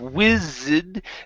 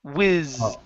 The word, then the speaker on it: whizzed: star whizzed by okay instead of whiz the the E here is silent it's whiz wiiz okay Shooting Star whizzed